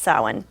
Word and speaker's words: Samhain: called it Samhain. It's spelled Samhain, S-A-M, but it's pronounced Samhain.